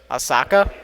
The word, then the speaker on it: Asaka: How you pronounce that? Asaka? Asaka. Like a second.